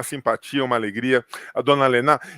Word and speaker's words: Lenah: toda a propriedade, que a pronúncia correta do nome é Dona Lena, não é Dona Lena. Lena. Porque o H faz o sinal, né?